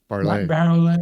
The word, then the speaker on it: Barolet: And here's this Randall, I want to say Chevrolet, but I know it's not Chevrolet. Barolet.